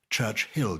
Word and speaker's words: Churchill: Churchill, you pronounce it, but actually it's only one H.